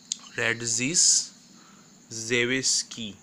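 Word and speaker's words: Radziszewski: reaction is red zzz whisky synthesis and carefully pronounce the name that is red red ZZZ Z whiskey z ii w is ki Radzi rad ZZ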